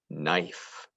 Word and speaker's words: knife: the next word is knife i used a knife to spread the butter on the bread knife has a silent k at the beginning ben i've been practicing